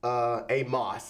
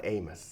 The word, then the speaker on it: Amos: Well, Amos, Amos, it's not Amos. Oh, it's Amos. okay, I You said pronounce it wrong.